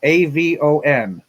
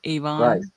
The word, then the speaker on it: Avon: we have a town it's spelled a-v-o-n now in England that's Avalon right Avon Avon not here it's Avon oh yeah The Makeup